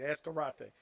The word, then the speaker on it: Ascarate: community, uh, is, as his last name is pronounced, Ascarate, right? All right. As karate.